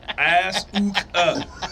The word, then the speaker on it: Asuka: Asuka. Asuka. That's how you pronounce it.